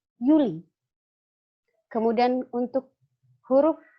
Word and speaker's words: Juli: maka dibacanya yogs Yap dan dibaca seperti huruf y contoh pada kata Juli bulan Juli kalau di Jerman disebut dengan Yuli Kemudian untuk huruf q